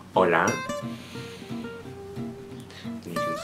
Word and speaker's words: hola: Uh, in Spanish it's hola and uh it's spelled H O L A and H in Spanish it's a silent sound so you don't um